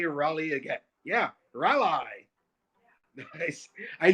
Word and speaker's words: Raleigh: or right all right well i know how to say it it's rally rally yeah i think i've